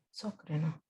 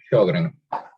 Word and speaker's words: Sjögren: Sócreno. En No. gastro la vimos. Sjögren. Síndrome de Sjögren. ¿Saben cuál es? Se escribe así, con J, Sí.